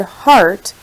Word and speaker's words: heart: When I look at the word heart, I notice that it has a short a sound similar to sharp, sharp, and start.